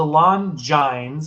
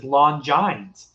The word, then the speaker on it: Longines: Okay, so the Longines, and I always thought it was Longines, but